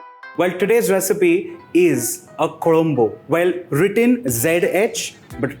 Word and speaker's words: Kuzhambu: Well, today's recipe is a kolombo. Well, written ZH but pronounced with a R.